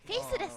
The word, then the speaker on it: faithless: フェイスレス。フェイスレス。 faithless。